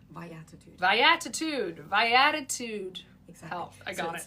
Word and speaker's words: Viatitude: Vatitude viatitude. Viatitude. Viatitude. Exactly. I got it. Via and attitude. Viitude. So life attitude.